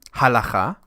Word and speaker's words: halacha: Halacha.